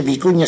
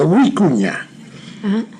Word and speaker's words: vicuña: Tiene la doble V, no se dice vicuña, sino huicuña.